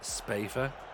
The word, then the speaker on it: Spafford: Unless it's pronounced, it's like a Hyacinth Bouquet thing. It's pronounced Spafer. Oh, is it really? Because it's written Spaffer.